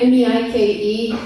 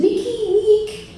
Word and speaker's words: Meike: I mean, especially like my name is Meike, but it's spelled the German way, M-E-I-K-E. And a lot of times when people see it online, they have a hard time pronouncing it and butcher it. Like this one guy showed up and he's like, how do I say your name? Is it Meike? And I'm like, no, it's just Meike.